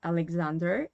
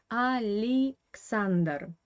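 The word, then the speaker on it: Александр: or something like that in russian this year in the middle is an unstressed position it is a weak position without stress and according to the russian laws phonetic opponent clause you have to pronounce this name as ali xander not a le sander but ali xander and now let's talk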